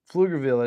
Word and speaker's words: Pflugerville: Pflugerville, it is how you pronounce it.